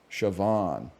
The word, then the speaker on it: Siobhan: they don't come second nature to me it's Siobhan sioban okay shoban thank you thank you guess the game back